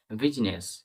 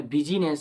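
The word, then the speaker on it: business: শব্দে কিছু common common শব্দে আই লেখা থাকলেও উচ্চারণ হয় না কিছু কমন শব্দে যেমন দুটো আমরা এক্সাম্পল দেখতে পারি বিজনেস বিজনেস মানেটা দেখো বি ইউ এস আই বি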